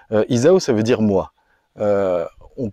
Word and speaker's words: Izaho: un petit peu exactement le haut se prononce où en malgache Isao ça veut dire moi